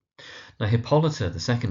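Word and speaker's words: Hippolyta: Now where you find mispronunciations you often find things like hippolyer hippoliter that kind of idea but it's hippolita emphasis on the second syllable.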